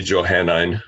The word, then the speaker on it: Johannine: Pauline is especially keen and skilled as a specialist in the Johannine. Is that how you pronounce it? Johannine? I hope so. They say Johannine.